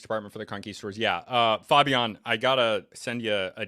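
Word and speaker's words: Fabián: It's not Fabian, it's not Fabian, it's Fabian. That sounds like the Spanish pronunciation.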